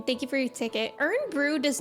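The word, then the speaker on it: Irn-Bru: you get oh my God wait this is pronounced ear Brew I think I know kiry always talks about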